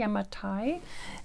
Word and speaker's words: Yamatai: hey everybody hello today we are looking at yamatai i pronounced that correctly yamatai today's a wonder game uh two to four